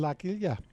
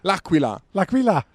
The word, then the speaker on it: L'Aquila: Half an hour driving from here in L'Aquila. Lucky, God, your pronunciation is worse than Richard and Lionel. Really, Lionel, come back. Come back. L'Aquila. L'Aquila.